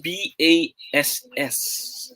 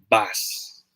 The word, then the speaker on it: bass: of pronouncing pronunciation so this is smiley side it's pronounced as bass all right this is a sea bass a fish okay the other one is pronounced as bass because that's a bass guitar right there i hope you got